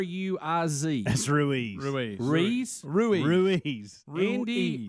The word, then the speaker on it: Ruiz: his name Lis L it's R Iz that's Ruiz Ruiz Ruiz Ruiz Ruiz Andy Ruiz Jor how did you think that a word that start with r would be Louise I was just throwing out something I thought